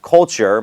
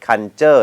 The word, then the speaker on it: culture: Thai culture นะ ครับ คำ ว่า culture ไม่ ใช่ Cure นะ ครับ ออก เสียง ว่า culture culture ถ้า มี คำ ไหน ที่ มี t r ตอน ท้าย นะ ครับ ก็ จะ ออก เสียง เหมือน คำ ว่า c h e r นะ ครับ จริง ๆ